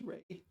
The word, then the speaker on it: 蕊: Oh, and it's not pronounced sin, it's pronounced Ray.